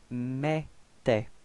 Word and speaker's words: mettait: Okay, for the pronunciation, remember that then when you've got this two T right after the E, it does give you the pronunciation for the E, it's open, it's E. Okay, that's the reason why we've got elle mettait.